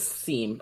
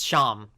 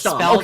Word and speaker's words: Seam: Chris and and is it Sham or is it Seam? I always forget. It's Sham. It's Sham. spelled seam but pronounced sham in that scene.